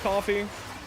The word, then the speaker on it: Ko-fi: stupid pronouncing Kofi coffee I think it is pronounced coffee curated I think it is